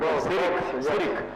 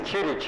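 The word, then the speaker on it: Ćirić: Like he pronounced, we normally pronounce Sirik, but you see he said Chirich. The original pronunciation.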